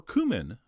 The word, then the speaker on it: cumin: We're also going to throw in a spoon of ground cumin, or cumin, as I believe it's supposed to be pronounced, as well as a little bit of ground coriander.